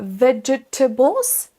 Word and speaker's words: vegetables: Là aussi, vous avez peut-être envie de dire vegetables. Vegetables en prononçant toutes les syllabes. C'est un petit peu la même chose que le mot précédent, on ne va pas prononcer toutes les syllabes de la même façon distinctement, on ne dit pas vegetables, mais vegetables. Vegetables. Vegetables. Pour la même façon que le mot précédent, la première syllabe sera accentuée, donc on la prononce un